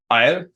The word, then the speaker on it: Ayl: How do you pronounce AYL in German? Because I'd like to know. Eil.